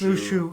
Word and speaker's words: Luxu: It's pronounced Lushu in the games, so that's how I'm going to pronounce it.